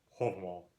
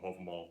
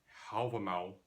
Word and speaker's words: Hávamál: Now the pronunciation that I'm using here is reconstructed medieval old Norse pronunciation. This is uh an approximation of what linguists believe the old Norse language would have sounded like in about the 1200s when the poem Hoval was written down. The pronunciation you may be more accustomed to hearing Halval is based on modern Icelandic pronunciation which is often used